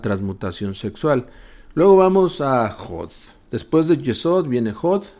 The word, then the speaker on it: Hod: Luego vamos a jod. Después de Yesod viene hod. H o d se escribe con h, se pronuncia con j. Jot significa el cuerpo astral.